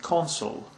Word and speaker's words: consul: The last term is pronounced consul and is a diplomat appointed by a government to protect its commercial interests and help its citizens in a foreign country.